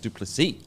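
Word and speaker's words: Du Plessis: I think it's spelled dupus but it's actually pronounced dupy so adisan vers dupy it's going to be an incredible fight I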